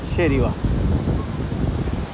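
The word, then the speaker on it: Geribá: de hoy la playa de Yerivá o Yerivá, pero la pronunciación correcta sería Yerivá.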